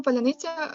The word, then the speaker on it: паляниця: диверсійно-розвідувальні групи в Україні росіянам важко вимовляти цей це слово тому що в українській мові звук ц може вимовлятися як твердо наприклад у слові Сонце так і м'яко як слово козацький а натомість у російській мові звук це завжди твердий тому для росіян які